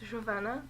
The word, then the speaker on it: Giovanna: say your name yeah in Portuguese it's kind of different but like how do you say you say it's ravana giovanna cool and you went